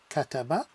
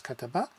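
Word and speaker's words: كَتَبَ: It can mean kataba, can be pronounced as kataba, which is he wrote, but also as kutub, which is books.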